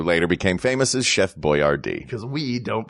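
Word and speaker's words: Boyardee: became famous as Chef Boyard D cuz we don't pronounce names properly exactly they had to phonetically spell his name on the cans of pasta let's talk about Nicholas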